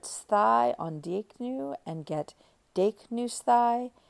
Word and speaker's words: δείκνυσθαι: So we'll put sthai on δείκνυ and get δείκνυσθαι. And there the accent is always on the third to last syllable, which you could actually think of as recessive.